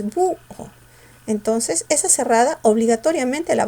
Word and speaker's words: búho: Pero la cerrada se pronuncia con mayor fuerza de voz, porque tú dices búho.